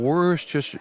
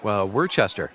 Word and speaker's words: Worcestershire: Like easier than pronouncing Worcestershire? Nope. Worcester.